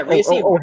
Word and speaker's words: Rhea Seehorn: Yeah, Rhea Seehorn.